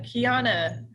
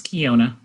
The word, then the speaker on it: Kiona: you uh and uh kiana and am i pronouncing your name correctly you are it's kiona thank you awesome good